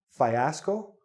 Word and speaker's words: fiasco: Now this, you're thinking, fiasco? Fiasco? No, it's fiasco. Again, the E. Fi-as-co. 3 syllables.